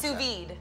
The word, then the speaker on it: sous vide: off what i don't i can't pronounce sous vide so sue you've heard sous chef right right veed means vacuum so under vacuum which